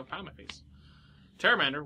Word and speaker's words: Pteramander: Pteramander? Was that how? That's how I corrected you to pronounce it. I don't know how to pronounce this card. I didn't know Pterodactyl. I assume I'm right. I didn't know Pterodactyl had a P.